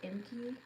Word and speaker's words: Inkey: I think that's how you pronounce it, Inkey, I-N-K-E-Y.